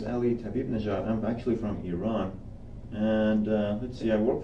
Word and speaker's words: Iran: Iran is the Tell me about correct it. way to pronounce it.